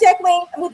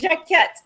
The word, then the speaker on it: Jacquette: Did I say that right, Jacqueline? Jacquette, did I say that right? I was about to say, you said the company right, but not the name. It's Jacquette.